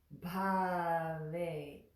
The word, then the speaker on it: Bhavet: And the last word, Bhavet. And the is again behind the front teeth.